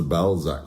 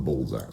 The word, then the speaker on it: Balzac: And it's the Balzac School, not the Balzac School. Not Bullsack School, Yeah.